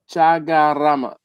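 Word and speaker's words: Chaguaramas: Oh, Chagaramas. The U is silent.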